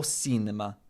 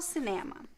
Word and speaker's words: cinema: Okay, there's an accent on the ne.